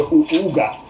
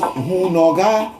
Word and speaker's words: Hunoga: There's nothing called Uga in Ewe Vodu. It is Hunoga. So if they are removing the H and pronouncing it Uga, Uga, Uga, it is not real.